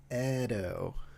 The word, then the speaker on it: Edo: Edo. Oh, sorry for the mispronunciation.